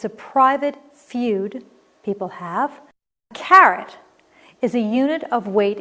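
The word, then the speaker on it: caret: carat or 24 karat carrot c-a-r-r-o-t is the orange vegetable the one that you know we chew on and c-a-r-e-t also pronounced carrot is a proofreader's mark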